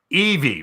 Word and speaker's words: Evie: Pronounced Evie, right? Like on Wall-E, like Eva.